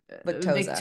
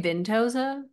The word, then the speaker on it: Victoza: We have poor innocent Maggie, 16 years old, who was put on Victoza. Victoza. You say Vintoza?